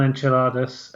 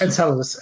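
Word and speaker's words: Enceladus: the gizers gazes I'm never sure how to pronounce that word uh on on on enchiladas uh or in encaladus encaladus oh sorry okay and Sam says ke banga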